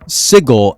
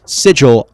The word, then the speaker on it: Sigil: wondering why in the world I'm calling it sigle and not sigil right well apparently cook mispronounced it and they just ran with it now if you want to continue calling it sigil I won't have a problem with it but